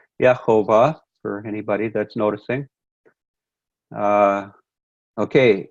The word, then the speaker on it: Jehovah: are first fruits for Yahweh now again using the this would be more the Aramaic pronunciation as as shown in the Assyrian Jenaya form the proper pronunciation in Hebrew was Jehovah for anybody that's noticing